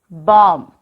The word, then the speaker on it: bomb: Bomb. Repeat it, bomb. Here, B is silent.